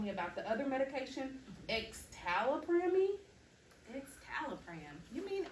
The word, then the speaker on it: escitalopram: And when I had a conversation with Johnny here earlier, he was telling me about the other medication, escitalopram. Escitalopram. You mean escitalopram?